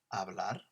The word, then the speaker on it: hablar: To speak is hablar, hablar. Notice that we don't pronounce the H. So the H in Spanish, you never pronounce it. It's just silent.